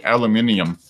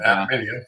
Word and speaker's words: aluminium: by itself, you imagine the aluminum one is, or as you say, aluminium. Yeah, aluminium. Yeah. Proper way to say it.